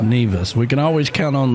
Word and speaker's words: Nevis: Nevis. Pronounced Nevis.